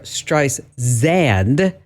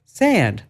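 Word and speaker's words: Streisand: It's not Barbara Stice Xand, it's Barbara Stand, like sand, like sand on the beach.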